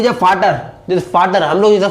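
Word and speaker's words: Vater: FATER, यानी कि वी को हटा के हम लोग एफ ऐड कर देते हैं। क्या? वी को हटा के हम लोग एफ ऐड करते हैं, तो हम लोग उसको क्या प्रोनाउंस करते हैं? फाटर।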